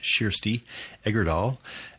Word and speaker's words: Kjersti Egerdahl: Kjersti, her name is spelled Kjersti, and it's pronounced Kjersti Egerdahl, is senior editor at Amazon Original Stories and imprint of Amazon Publishing.